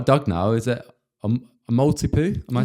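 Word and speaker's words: Maltipoo: Is it a multi-poo?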